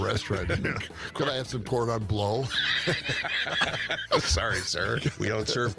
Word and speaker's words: cordon bleu: It is said cordon bleu. He knows how to spell Chris Krebs. Please. It's like the first time Of you've gone to course. a restaurant. Could I have some cordon bleu?